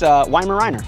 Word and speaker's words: Weimaraner: Weimaraner. That's it. He's doing a French accent, but it's Weimaraner.